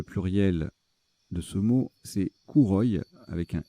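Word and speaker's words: kouroi: Et le pluriel de ce mot, c'est Kouroy, avec un I. Et ça s'écrit aussi avec un K.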